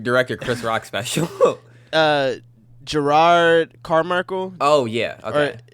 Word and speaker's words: Jerrod: chris rock special uh gerard carmichael oh yeah okay i think it's jerrod i think that's how you say his name yeah um but